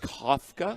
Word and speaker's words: Kafka: and Kafka Mike Kafka apparently his name is pronounced Kafka it is which makes